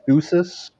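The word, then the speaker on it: physis: you brought up ploh there's something called fusus kind of sounds like physics spelled with ph those are the laws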